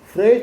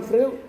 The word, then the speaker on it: Freud: Freud bacanya orang Jerman, bukan Freud.